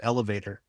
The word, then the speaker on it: ELVTR: Yeah, I'm going to be teaching an online course in comic book writing for a company called Elevator, and that's spelled ELVTR, so only one vowel. Elevator, one vowel.